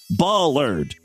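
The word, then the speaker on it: bollard: news story by the way the corre correct pronunciation is Ballard like a sheep ba Ballard I didn't know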